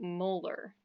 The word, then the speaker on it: molar: we read that output it's not red 4.00 m it's read 4.00 molar so like the back teeth in your mouth are molars that's how we pronounce that word molarity is a very